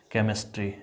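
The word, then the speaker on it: chemistry: जैसे आप लिखते हैं क्या, केमिस्ट्री, यहाँ देखो CH है लेकिन इसका उच्चारण क हो रहा है ना, CH है इसका उच्चारण क होगा।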